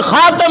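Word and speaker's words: خاتَم: خاتمہ کا، خاتم النبیین، خاتم لفظ کی دو طریقے سے۔ ایک تو حضور نے زبر کے ساتھ پڑھا خاتم النبیین، حضور اللہ تعالیٰ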